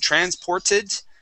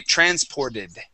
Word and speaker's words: transported: So instead of saying transported and pronouncing a T there, we would say transported. Okay, you see how that changes to a D?